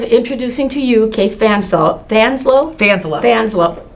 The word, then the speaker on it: Fanselow: Fanselow? Fanselow. Say it again? Fanselow. Fanselow. You got an extra syllable in there.